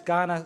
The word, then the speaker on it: Kaurna: Just for the record, that's Kaurna, spelt with a K but pronounced with a G, yeah?